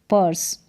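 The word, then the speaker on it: purse: यहां पर भी पर्स पर्स यू आर को अर और एस को स पर्स या फिर इस यह जो लास्ट में ई है इसका उच्चारण नहीं करेंगे पर्सी करके नहीं पढ़ेंगे पर्स पढ़ेंगे और ई जो है लास्ट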